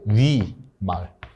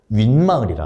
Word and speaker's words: 윗마을: 위에 말을 할 때 위마을. 여러분 설마 위마을 위마을 이렇게요? 아니죠. 윗마을이라 하죠. 여러분들이 지금 발음할 때 여기는 니은이 하나 새로 들어오고요. 얘 니은이 하나 새로 추가되고 그다음에 여기는 아래 R엔니 R엔니 이렇게 되죠.